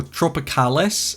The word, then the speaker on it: Tropicalis: Alright, so moving over here to the tropicals, or tropicalis as it's actually pronounced.